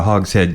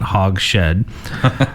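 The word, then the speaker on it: hogshead: carefully finished in Marcela Hog's head not hog Shed from the stunning Florio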